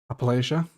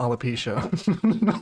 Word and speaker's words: Appalachia: Appalachia. Appalachian. Yeah, that's right. Yeah. Okay. I think I pronounced Alipian last time, didn't I? It's not Alipcia.